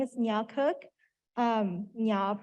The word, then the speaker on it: Nya: Nya pronounced like lasagna, if that makes it more, it makes it easier to remember and pronounce.